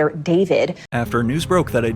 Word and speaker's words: D4vd: Hello, my name is David. Pronounced David, not D4vd.